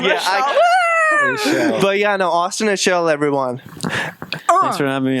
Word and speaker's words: Aichele: Austin Has to Aichele. pronounce his own name. Yeah, but yeah, no, Austin Aichele, everyone.